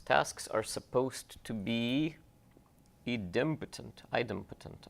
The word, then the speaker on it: idempotent: are supposed to be Edom patent idempotent i don't know how you say this word how do you say this word impotent okay idempotent yeah exactly so what does that